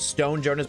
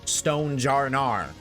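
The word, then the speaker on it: Stonjourner: Pokemon is smoking pot or some That is Stone Joner, not Stone Jr. Rar. doesn't even have the letter A in his name.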